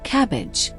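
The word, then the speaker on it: CABG: In more complex cases or when multiple arteries are involved, doctors may recommend coronary artery bypass grafting or CAB, pronounced cabbage.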